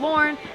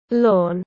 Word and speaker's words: Lorne: near the town of Lorne I think that's how you say it lawn but we're gonna go